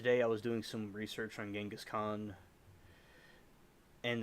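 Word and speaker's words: Genghis Khan: doing some research on genas Khan and the right pronunciation of it is Changas Khan by the way and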